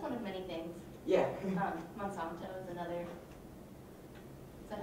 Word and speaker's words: Monsanto: so that that's one of many things yeah monsanto is another is that how you pronounce it monsanto yeah that's the big uh they pissed me